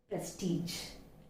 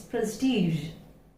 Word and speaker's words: prestige: usually we pronounce it prestige, prestige, this way, right? We say prestige, but it's not prestige, it is prestige, prestige.